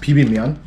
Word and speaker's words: bibimmyeon: this uh it's called it's korean it's uh pronounced pb mion what would you rate it um for the